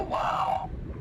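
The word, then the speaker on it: WAU: They too will find peace within the universe of the WoW. Oh, so it is pronounced wow then.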